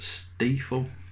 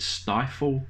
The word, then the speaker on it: Stiefel: Pronounced Stiefel. So even Jacob Stiefel and the Truth. on his own card he has to put on, unfortunately I guess, the pronunciation of his own name, Stiefel. I guess a lot of people probably would have said Stifle, maybe.